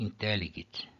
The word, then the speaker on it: intelligit: E intelligit, eu tenho a penúltima é breve, acento na antepenúltima.